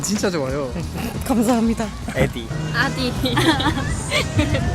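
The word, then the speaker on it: Äddi: 발음이 진짜 좋아요. 감사합니다. 에디. 아디.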